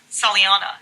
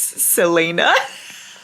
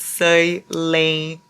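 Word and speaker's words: Celaena: Her name is Saliana. And then the top comment in that video, you guys, is Larry mispronouncing every single thing about Throne of Glass is sending me. Girly, it's Selena.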